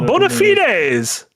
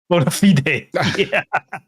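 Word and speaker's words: bona fides: And then you Oh, bonafites. Bonafides.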